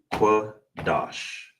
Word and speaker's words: Qadash: So all together will be kwa dash.